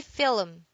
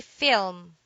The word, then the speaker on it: film: espresso espresso film film don't say film do say film it is a noun